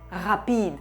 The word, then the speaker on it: rapide: El francés sí lo tiene. Tiene un problema con todas las palabras que no sean agudas, así que la adapta. Rapide.